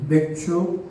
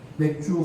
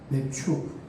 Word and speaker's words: 맥추: 우리 맥추 감사자. 발음을 잘해야 돼요. 맥주 감사자들. 맥추.